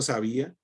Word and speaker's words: sabía: Entonces, por ejemplo, sabía es una palabra grave que lleva el acento no en la última, sino en la penúltima sílaba y se le marca